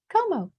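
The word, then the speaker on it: Comeaux: For those of you who are not from Louisiana, the EAUX is pronounced O, it's French. So Como.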